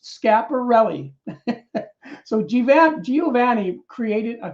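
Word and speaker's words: Schiaparelli: italian astronomer giovanni vergino scarpelli pronounced scaparrelli so given giovanni created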